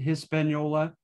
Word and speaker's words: Hispaniola: espanola after espana so we usually uh anglicize it and and pronunciate hispaniola uh h-i-s-p-a-n-i-o-l-a and so from there